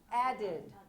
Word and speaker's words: added: Added. 2 syllables.